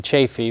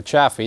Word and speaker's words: Chaffee: the M24 light tank known as the Chaffee, or Chaffee, depending on how you want to pronounce it. Adnan is, of course, not around to tell us how he pronounced it, and I've met persons of the same spelling who have pronounced it both ways.